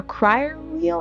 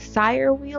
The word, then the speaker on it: Cyr wheel: I also want to get a crier wheel or a sire wheel, like it's called it's spelled CYR wheel.